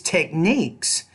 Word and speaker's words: techniques: These techniques have proved These techniques. So put stress on that second syllable and make it clearer, louder, longer, and higher.